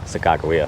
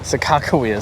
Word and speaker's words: Sakakawea: lake sakakuya how do you say it second sakakawea sakakawea sacramento do you want to say sakura you